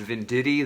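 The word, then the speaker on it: Venditti: um the end of a really amazing run i think it's pronounced vin diddy the the the writer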